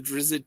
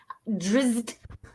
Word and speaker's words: Drizzt: Drizzt. His name is hard to pronounce. Drizzt. I think we should make the Z's like a insect buzzing sound.